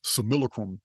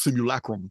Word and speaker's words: simulacrum: we live in this similacrum is pronounced simulacrum in the old Latin the old Latin books